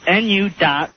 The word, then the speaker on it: nuclear: It goes NU.CLE.AR, right? Yeah. Uh-huh. And then it has, like, the little how you spell it, how you sound it out. Yeah. It goes NOO, the accent on the NOO. Right. And it goes KLE, and then upside down ER. So it's nuclear. Nuclear. And it is three syllables.